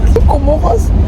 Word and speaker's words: Comoros: Elle m'a dit, comment elle dit Comore en anglais? Comoros. Elle m'a fait. Elle dit, arrête de dire en anglais, oui, mais en France, c'est pas la même prononciation qu'en anglais. Je dis, mais en anglais,